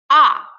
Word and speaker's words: а: A as in father. A. To pronounce A, it's better to put your finger on your chin and put your chin down and say "а".